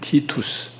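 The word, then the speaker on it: Titus: 베스파시아누스하고 아들 티투스. 성경에 디도라고 적혀있는지 모르겠어요. 티투스라고 발음하는데 그 부자 장수를 보냅니다.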